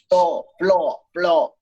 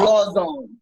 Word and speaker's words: Flowzone: Flow. It's not flow. It's flaw. It's flaw. Flaw zone. It's flaw. You got gotta say it like if you're Latino.